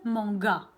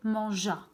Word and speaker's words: mangea: Il manga, c'est faux bien sûr. Donc, qu'est-ce qu'on va faire? On va chercher le son ja pour prononcer manja. Qu'est-ce que je dois faire? Et bien évidemment, oui, je vais rajouter le E.